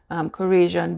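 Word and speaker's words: Khorasan: Now I'm going to grind the berries into flour, and these are Korasian berries. It's spelled K-H-O-R-A-S-A-N berries.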